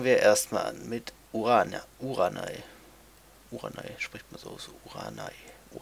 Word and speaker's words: Uranai: Uranai, spricht man so aus.